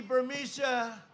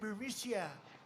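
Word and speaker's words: Burisma: alleged meeting with the burmesa executives so this uh buremicia bermucia they say pronounce it borisia a real beautiful company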